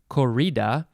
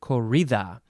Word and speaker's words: corrida: well an english person an american person would say corrida but um it is a spanish word so it is korita c-o-r-r-i-d-a noun from 1802